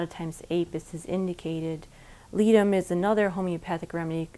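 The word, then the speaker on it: Ledum: lot a lot of times apis is indicated litum is another homeopathic remedy it's spelled l-e-d-u-m and it's usual for puncture wounds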